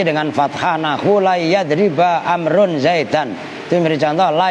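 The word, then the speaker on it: عمرو: Jadi kan gini nih, perhatikan nih, kalau ada wawunya bacanya amrun atau amrin. Kalau nggak ada wawunya umar, gitu loh.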